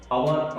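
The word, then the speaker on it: hour: कुछ ऐसे वर्ड जैसे ऑनेस्ट, अवर, ऑनर, तो इसमें एच साइलेंट है, साइलेंट लेटर का हम वीडियो जो है अपलोड कर चुके हैं, आप देख लेना। और एच जो यहाँ साइलेंट है, इनका जो वॉवेल साउंड बनता है वो बनता है ऑ, ऑनर, ऑनेस्ट, अवर।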